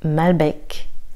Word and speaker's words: Malbec: Malbec. Alors attention, ici il faut entendre le C.